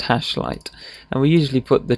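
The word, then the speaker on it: #light: light syntax is on we've got a hash and a light word here and it's pronounced hash light and we usually put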